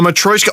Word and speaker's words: matryoshka: pronounce it again? A matryoshka.